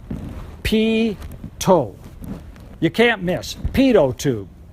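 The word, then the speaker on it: pitot: of me mispronouncing it it ain't pronounced like it's spelled you would think it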